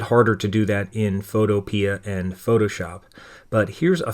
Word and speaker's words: Photopea: Gravit we're going to use Photopea or Photopea, however you want to pronounce it. I pronounce it Photopea, but it's our Photoshop